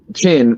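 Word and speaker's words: Chinn: did like Carl but this this this Jeremy chin right that's how you say his name Jeremy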